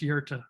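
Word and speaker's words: Göta: uh combination of letters but it's g-o-t-a-g-o-t-a it's pronounced yerta i'm not gonna try to pronounce anything in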